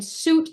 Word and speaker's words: Suit: The court before DCA cited this court's opinion, suit versus suit. That is spelled exactly how it sounds, SUIT versus suit.